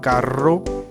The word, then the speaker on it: carro: Ele também tem um som forte, quando ele é letra dupla, quando são dois R's, lá doble R, como a gente diria, tá? Então, carro, herramienta, hierro.